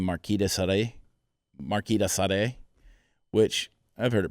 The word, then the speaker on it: Marquis de Sade: I've heard it Marquis de Sade, which is most people say that, and then there's Marquis de Sada. Some people say it that way.